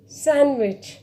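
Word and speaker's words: sandwich: है तो वहाँ पर जो D है वो साइलेंट रहेगा। फॉर एग्ज़ाम्पल सैंडविच, यहाँ पे आप देखेंगे इट्स इन the middle of a word, DSAND।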